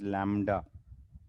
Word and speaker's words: lambda: This is denoted by a Greek letter pronounced as lambda.